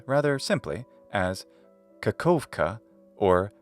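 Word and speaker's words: Kakhovka: in English a v sound so you can pronounce the city's name rather simply as kakovka or kakovka the city we saw earlier called melitopal from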